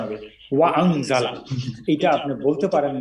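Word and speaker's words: وَأَنْزَلَ: হ্যাঁ, ওয়ানজালা বলা যাবে না, এই আলিফকে উচ্চারণ করতে হবে ওয়া আনজালা।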